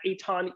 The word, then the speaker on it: Eitan: all the socials at Aton eii tan my name is spelled nothing like it is pronounced um EIT tan Facebook and